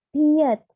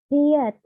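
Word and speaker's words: 피읖: Lalu ada piet, piet, ini tuh P, hanya P dibacanya.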